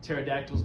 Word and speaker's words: pterodactyls: Why don't pterodactyls make any sound when they go to the bathroom? Because the P's silent.